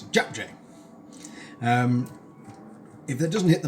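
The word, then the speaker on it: 잡채: That's how you pronounce it, JapChae.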